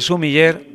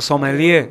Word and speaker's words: sommelier: La figura del sommelier, o sommelier, si pronunciamos su galicismo, ocupa un lugar especial